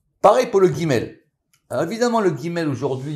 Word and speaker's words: Gimel: Donc ça c'est très important, cette notion de prononciation des lettres. Si vous voulez, on en reparlera. Donc elle s'appelle Gimel ou Rimel.